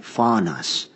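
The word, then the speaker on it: φθόνος: is the word and I'll spell it p-h-t-h-o-n-o-s but you could say it's like faunas right and it literally means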